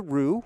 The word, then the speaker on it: Roo: So last question, then I'm going to grab the Roo, who rhymes with blue.